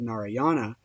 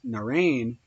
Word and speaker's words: Narayana: Narayana, pronounced and written Narayan, or sometimes Narain, is a common name with Hindus of several sects and often occurs in their writings.